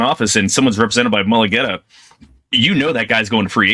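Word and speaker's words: Mulugeta: But his agent is, and I always pronounce his name, Mulligetta or Mulligetta? David Mulligetta, yes.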